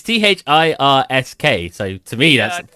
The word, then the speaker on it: Thirsk: Is that how it's pronounced? It's Thirsk.